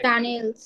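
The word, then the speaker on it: Tunnel: টানেল। Tutorial. টানেলের এখন German উচ্চারণের ক্ষেত্রে আমরা টুনেল বলি, ঠিক আছে?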